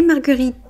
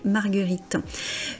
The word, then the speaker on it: marguerites: La marguerite, les marguerites. Alors là, on revient quelque chose dont on avait parlé. On ne dit pas le S final, on dit bien les marguerites.